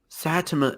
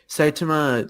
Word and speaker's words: Saitama: is great too it really just I mean Satsuma is sorry I always pronounced mispronounce his name the first time I said everyone my brilliant conversation anyway Saitama literally he trains his butt off he yeah